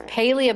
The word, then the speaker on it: Palia: And they they said, "It's Paleia, but we accept any version of what you say or Paleia, Paleia, it doesn't matter." But they they did intend for Paleia.